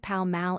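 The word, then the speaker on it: Pall Mall: The English also pronounce Paul Maul as if it were spelled Palm Mal. Americans commonly give it two broad a street names/lippings magazine.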